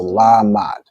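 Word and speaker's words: למד: correct excellent okay so la is pronounced fully the ma and da are joined so la mad right excellent work okay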